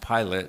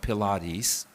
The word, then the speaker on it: Pilate: There are voices like uh the negative one of course Herod and Pilate. By the way, his name is pronounced pilot not Pilates.